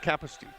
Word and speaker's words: Kapusti: I'm going to go with Kapusti. The emphasis should be on the first syllable.